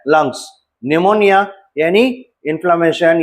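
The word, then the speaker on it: pneumoniae: एन ए E Numa निमोनी ठीक है। निमोना का स्पेलिंग पी से शुरू होता है। पी साइलेंट रहता है। पी एन ई यू एम ओ एन ए निमोनी।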